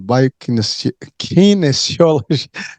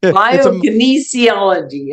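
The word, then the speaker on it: biokinesiology: Uh she's a formal former member of the US uh C faculty in the division of bioines kinesiology. Did I say it right? Bioinesiology.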